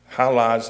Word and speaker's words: Hala: And there's something here, there's a line here, it says, "like the musical note." So I've been walking around town saying, "Hala from La La Land." That made me sort of get as close to saying it correctly as I could.